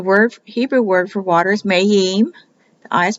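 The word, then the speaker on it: מַיִם: to Waters the word Hebrew word for Waters mahim the eye is pronounced like an e so it gives you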